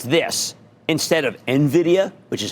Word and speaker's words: Nvidia: the same people who call a stock Nvidia like it rhymes with Nivea or something you know I mean like it's this instead of Nvidia which is how you